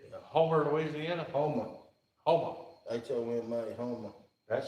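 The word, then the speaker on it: Houma: H-O-M-A, Homer. That sounds like it's pronounced coon ass. Homer. You drop the R, Homer.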